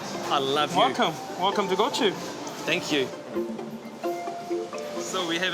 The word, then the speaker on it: Gochu: Gochu.